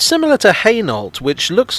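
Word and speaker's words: Hainault: thing everyone can agree on it's similar to heynolt which looks like it should be pronounced eno but isn't i just like saying french words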